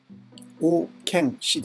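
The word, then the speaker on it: 王献之: 王建氏です。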